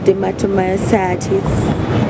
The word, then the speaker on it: dermatomyositis: It's called dermatomyositis.